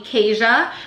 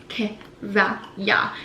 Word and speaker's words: Keziah: So when I came here, they call me Keisha. But really, if you look at the Hebrew name for it and pronunciation, it's Keziah.